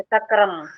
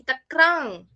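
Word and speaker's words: तक्रम्: हाँ, तक्रंग आएगा, तक्रम नहीं, तक्रंग, तक्रम नहीं आएगा, ठीक है। मतलब ये हम मैम लोग वैसे पढ़ते इसका हैं। उच्चारण, मैम जैसे इसका उच्चारण तक्रंग, जैसे ऐसे अंग की आवाज आनी चाहिए लास्ट में, जैसे ऐसे ना।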